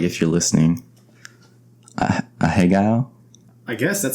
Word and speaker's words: ahegao: A hegao? I guess that sounds actually pretty good. A hegao. It's spelled Ahegao.